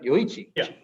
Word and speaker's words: Yoichi: know it happens yeah yochi yeah you said it right yoichi so it's a nico